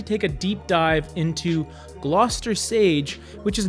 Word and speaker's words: Gloucester: so gloucester sage and no it's not pronounced glue kester it's gloucester it's a rich brown color